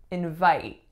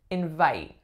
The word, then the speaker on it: invite: next up we have invite invite this would be the verb the first sound is in the second sound is vite vite as a noun it would be the opposite I received a really